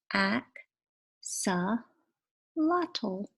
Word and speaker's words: axolotl: in case you're wondering my name is pronounced AK saw lot ol wish the words weren't